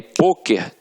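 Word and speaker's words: pôquer: Só que aí, poker tem uma pronúncia fechada, e aí leva o acento circunflexo.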